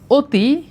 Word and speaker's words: অতি: ভালো করে খেয়াল করো যেমন আমি যদি বলি অতি এইটার উচ্চারণ হচ্ছে ও তয় রস্বীকার অতি তার মানে এইখানে দেখা যাচ্ছে সরেয় ধ্বনিটা ও এর মত উচ্চারণ হচ্ছে আবার আমি যদি বলি